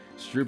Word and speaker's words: stroop: Stroop is pronounced in rope.